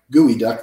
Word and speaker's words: geoduck: duck GE Oh d.u.c.k spelled like geoduck gooey duck though his ads pronounced not